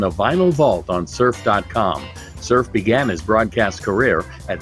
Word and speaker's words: Cerphe: It's spelled Cerphe. It's pronounced Cerphe, and yes, it is his real name.